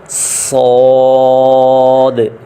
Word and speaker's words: صاد: زا، سین، شین، صاد۔ صاد اور ضاد کو پڑھتے ہوئے سپیلنگ میں جو آخری دال ہے اس پہ حرکت آئے گی: صاد، ضاد، طا ظا عین۔ یہ